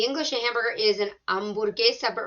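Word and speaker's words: hamburguesa: a hamburger is an ambergeist but remember that h is silent repeated him repeating that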